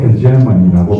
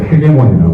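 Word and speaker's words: hegemony: 미국 사람들은 이런 발음은 리버럴 헤게모니라고 발음해요. 우리 이제 독일식으로 헤게모니라고 그러는데, 그러면 리버럴 헤게모니라는 게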